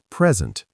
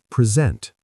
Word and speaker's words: present: noun for a gift or the current moment, pronounced present, and as a verb to show, give, or introduce something formally, pronounced present?